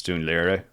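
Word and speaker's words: Dún Laoghaire: So yeah, the Irish pronunciation is not quite right. It's Dunleary, actually close enough to where I live.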